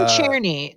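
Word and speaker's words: Czerny: Henry Churnney. That's the pronunciation.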